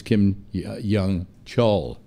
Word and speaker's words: Kim Yong-chol: Well, that was Kim Yong-chol. That's how his name is pronounced.